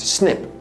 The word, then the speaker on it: SNP: Ben Lynch One of the most important pieces of the genetic puzzle is a type of variation known as a SNP (pronounced “snip”), which is short for single-nucleotide polymorphism.